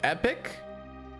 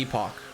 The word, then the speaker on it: Epoch: to play with technically it's pronounced epic but um we as intellect uals will always call it the epoch there is a bunch